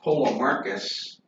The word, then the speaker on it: Polemarchus: There's another character whose name is pronounced Polemarchus. It's a P there. Polemarchus is another character in the dialogue.